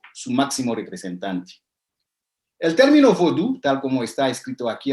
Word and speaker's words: vodú: De esta manera, el equivalente en español sería lo último que tenemos abajo, vodú, con acento en la última U, vodú, para hacer el acento en la última sílaba, en lugar de voodoo.